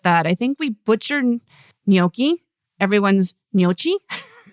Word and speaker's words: gnocchi: Another useful sound is the combination of g n, which is like the we pronounce it nye. Okay. Where do you hear that? In which words? So, for example, in gnocchi or lasagna.